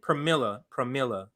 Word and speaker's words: Pramila: Pramila. Yes. Okay. Yes. So I said, oh, look, more so-called progressives shielding for corporate Democrats. Do you think Pramila doesn't know Chantel's support is virtue signaling? Pramila knows this is performative, yet she still gives